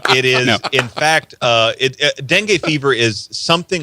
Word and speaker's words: dengue: Brazil is releasing, get this, especially if you're in Louisiana or the South, mutated mosquitoes to fight from, I can't even pronounce this fever. Dengue.